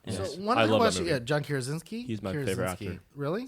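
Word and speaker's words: Krasinski: know it has like you know your John trosi yeah did I say his name right and it had Emily Blunt so one question yeah John kazinski he's my favorite actor really so he is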